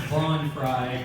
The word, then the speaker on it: Vaughn Fry: Okay, so it's actually pronounced Vaughn Fry, you know, like Vince Van from Money Crashers.